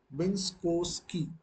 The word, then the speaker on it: Minkowski: Minkowski. So this is how we are going to pronounce.